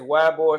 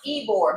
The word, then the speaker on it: Ybor: I think it's pronounced Ybor, but it's spelled Y-B-O-R.